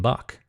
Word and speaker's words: Bach: And our good old friend, Johann Sebastian Bach, as it's actually pronounced, who died at the same year we're considering the Baroque era to have ended, 1750.